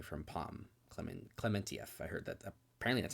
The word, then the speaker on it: Klementieff: uh great acting from Palm because I mean clementieff I heard that apparently that's how you pronounce her last name is clementieff I didn't know that um yeah yeah she